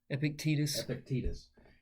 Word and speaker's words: Epictetus: Epictetus.